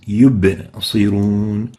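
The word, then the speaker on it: يبصرون: So ba needs to be having qalqala characteristic, yub, especially when it has the sukoon, it has the still state. So saying yubsirun is not proper. The right way to say it is yubsirun. Yubsirun. Yubsirun. Make sure to give the ba the enough qalqala characteristic.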